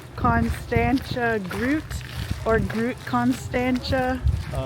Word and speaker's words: Constantia: We figured out that it's pronounced Constantia. And we are here now with a little bit of broken umbrella. And it's still raining. But I think this says Constant Groot or Groot Constantia.